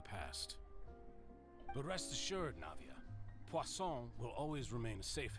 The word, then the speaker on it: Pon: to say Pon yeah no no that's the correct way to say pon pon is one of the easier French words to pronounce but like but like